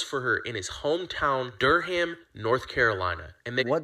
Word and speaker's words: Durham: h right now but there's no need for the H in Durham it's is Durham so accents and pronounciations